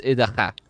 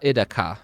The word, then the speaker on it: Idaha: that you say things, a KH is pronounced so it's Idaha. So that's how you Got would it. say her name. It's not Idaka, it's Idaha, because KH is the growling throat noise.